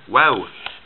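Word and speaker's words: و: then i put a wow after it it would be ooh it would be longer but for now remember wow is like the letter w initial uh well well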